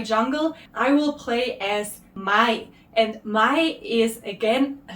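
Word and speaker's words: 마이: And pulling 2 syllables together, the ma from master and the yi from yi, his last name, I guess, Ma-i. So Master Yi becomes Mai in Korean.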